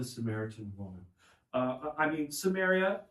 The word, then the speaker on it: Samaria: Uh I mean Samaria kind of rhymes with Arabia, right?